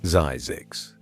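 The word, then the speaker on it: Zzyzx: Ziggs, pronounced Zyzigs.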